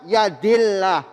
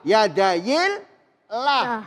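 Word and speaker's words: يد الله: Terus kemudian dibaca yadillah. Yadayillah. Bukan pakai o. Bukan yadayillah. Bukan pemirsa.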